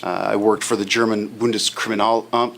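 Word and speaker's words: Bundeskriminalamt: conferences and seminars I worked for the German bundus criminal um spell it b u n d e s k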